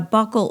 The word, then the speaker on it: buccal: And a buccal or buccal tie, is pronounced both ways depending on where you live, is when the frenum